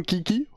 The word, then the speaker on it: Kiki: Ok, parce que moi on a parlé un petit peu de ça justement, mon kéké, mais... Mon kiki, c'est comme ça qu'on prononce ton blaze.